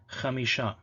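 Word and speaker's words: חמישה: Okay, so here the Ha letter represents actual Ha, Ahad, but in the word for 5 it was Ch, so they said Chamisha. Okay, Ahad and Chamisha, and it's the same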